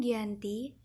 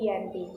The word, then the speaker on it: Giyanti: Dinamakan Giyanti karena perjanjian ini terjadi di Desa Janti yang dalam pelafalan Belanda tertulis Yanti dan terbaca sebagai Giyanti, yang sekarang menjadi Dukuh Kerten, Janti Harjo, Karanganyar, Jawa Tengah.